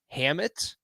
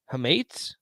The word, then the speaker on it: hamate: sound like an idiot left Hammett hamate I couldn't fracture sure h-a-m-a-t-e man that sounds right we're not connectors we're